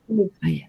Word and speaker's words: live: only please remember that the word live is pronounced very short in a very short way not but live live well this is very small